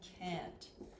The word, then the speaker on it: can: So you may notice that the vowel sound, we call this a schwa. The vowel sound for can sounds like can.